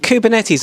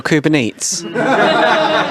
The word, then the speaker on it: Kubernetes: So the important question is it Kubernetes or Kubernetes? It's Kate's, isn't it? Isn't it Kate's?